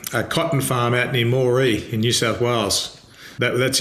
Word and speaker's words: Moree: It's a town called Moree, I think you pronounce it, Moree.